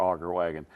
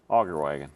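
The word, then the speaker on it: auger wagon: the weirdest stuff but if you ever want to say it right augur wagon augur wagon yep okay all right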